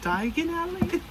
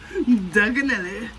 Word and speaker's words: Diagon Alley: Diagon Alley? He was supposed to say, Diagon Alley. Diagon Alley. And he said, Diagon Alley? It was... Danganelli. Danganelli. Oh, he said it wrong.